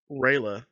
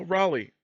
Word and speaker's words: Raleigh: of course doesn't know how to say the name Raleigh so they're calling him no they're calling him uh Raa I was respecting Reay I was like what like no no Raleigh Raleigh what's that it's like